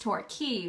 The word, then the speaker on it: Torquay: it that way because apparently it's pronounced torquay which i don't really get because why would you why would you spell it that way if not even pronounced that way although I guess in